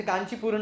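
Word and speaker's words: कांचीपूर्ण: ही बोलना है तो जैसे कांची पूर्ण है कांची पूर्ण का स्पेलिंग आखिर में आता है तो कांची पूर्णा नहीं कांची पूर्णा तो ब्रह्मा जी जब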